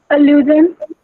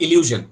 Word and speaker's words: allusion: Allusion. Who said Samriddhi Sati? Yes, beta. It is allusion. Allusion, not illusion. Okay? Is my pronunciation clear? I'm not saying illusion. I'm saying allusion.